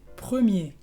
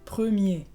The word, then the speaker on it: premier: Primero se dice premier, premier. Y primera, première. Entonces, ¿cuál es la diferencia? Pues en premier tienes la R final que es muda, entonces es el caso que hemos visto en el sonido E.